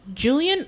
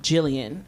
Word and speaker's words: Jillian: Like when I go to Chick-fil-A and be like, "Uh, Julian." Nope. Jillian.